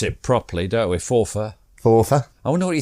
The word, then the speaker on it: Forfar: five and fora yry as we like to pronounce it properly don't we fora fora I wonder what he thinks of FY